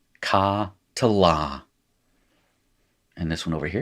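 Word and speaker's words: קָטְלָה: little metheg there, and that is pronounced ka to la.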